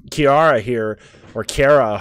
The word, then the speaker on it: Cara: apparently her name is Cara not Chiara so Cara there you go Cara so we have